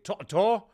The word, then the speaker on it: To'oTo'o: a quick intro to this week's guest Henry to to yes that's how you say it we go